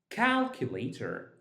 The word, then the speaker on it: calculator: Whenever you find a word ending in ater or ter, that means that ter, and then you count two syllables before that, that's exactly where you put your stress.